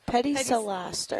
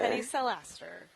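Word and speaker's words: Pedicellaster: So Pedicelaster. Pedicelaster.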